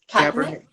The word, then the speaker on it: Kaepernick: How do we pronounce his name? Kaepernick.